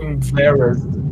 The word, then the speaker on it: embarrassed: Embarrassed. Se pronuncia com som de T, Márcia.